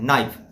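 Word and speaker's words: knife: आप याद किए हैं के एन आई एफ होना चाहिए था नाइफ लेकिन हम लोग क्या बोलते हैं नाइफ के को नहीं पढ़ा जाता है तो साइलेंट हुआ तो साइलेंट वाला सारा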